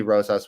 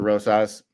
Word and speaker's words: Rosas: I also have a decision for Rosas. Oh, and we hit the over on mispronounced names. So, which one did I miss? You didn't pronounce it's Rosas, not Rosas.